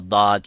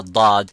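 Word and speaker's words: ضاد: So that's what I was saying, that the letter dad will put slightly pressure and releases so the air can come from the back and goes to the front and produce that sound of dad.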